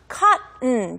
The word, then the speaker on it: cotton: 자, cotton라고 물론 읽을 수도 있지만 원어민처럼 얘기를 하시고 싶으면 cotton 두 번째 O가 거의 안 들려요. 없다고 생각하시면 좋을 것 같아요.